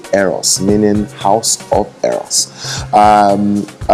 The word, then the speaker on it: Eros: It's pronounced Eros, meaning house of Eros.